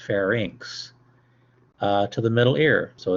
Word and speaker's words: pharynx: to pharynx means it's not fair Nicks is pronounced pharynx to the middle ear so it's an opening